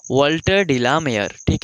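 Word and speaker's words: Walter: और यहां पे देखिए इसको एल साइलेंट कीजिए यह क्या हो जाएगा वाटर क्या हो जाएगा वाटर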